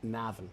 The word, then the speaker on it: Navan: Navan.